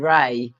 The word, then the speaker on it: Re: My my name Ry, although it's spelled RE, you think of ray of sunshine, which is light.